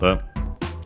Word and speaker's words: を: Then we have the object particle o, written as wo and pronounced as such in careful speech and also singing. But yeah, you'll often hear it as o instead.